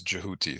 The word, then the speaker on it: Djehuty: um but the but the original um pronunciation is jouti so I try to stick to the original ancient Egyptian one um the album is